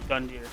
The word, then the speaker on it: Gundyr: fighting gun gear sorry it's not a jason i always pronounced with the j judex gundyr i don't know how